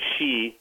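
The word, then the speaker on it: Sidhe: they call him the she uh spelled s DHE pronounced s he the she would come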